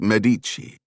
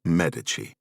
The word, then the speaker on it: Medici: This novel focuses on the Medici. First, I had to learn the correct way to pronounce the name. Americans tend to go with Medici. Italians though pronounce it, Medici.